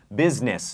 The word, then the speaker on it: business: ออก เสียง แบบ นี้ B แล้ว ก็ Ness business นะ ฮะ แต่ ว่า จริง ๆ มัน สะกด ว่า B U S I N E